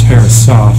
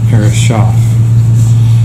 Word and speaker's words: Herreshoff: Hirsch airsoft companies and it's pronounced Harris off not perish off and then ARPA it's